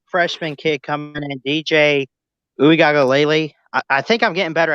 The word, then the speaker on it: Uiagalelei: kid coming in, DJ Uiagalelei. I think I'm getting better at saying his name first off, but I'll teach you how to say it. It's Uiagalelei.